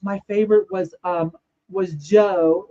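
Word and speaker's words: Giò: Now, when I did buy perfume when I was younger, the 90s, my favorite was um was Joe. It's spelled G I O Joe by um Oh, help me.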